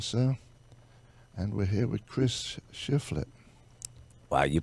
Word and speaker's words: Chris Shiflett: And we're here with Chris Shiflett. Wow, you pronounced my name right.